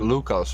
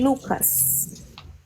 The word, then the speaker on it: Lucas: pronounce it like Lucas, right? We say Lucas. Mm, different emphasis.